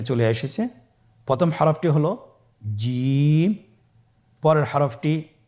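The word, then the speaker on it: ج: প্রথম হরফটি হল জিম। পরের হরফটি হা। পরের হরফটি খ। আপনারা আমার সাথে বলুন জিম। হা খ জিম হরফটি বারিক হরফ এটা উচ্চারণ করতে হবে তিন আলিফ টেনে দেখুন আমি কিভাবে উচ্চারণ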